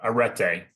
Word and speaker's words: arete: Kind of take us through the top with arete. Did I pronounce that correctly? Uh arete.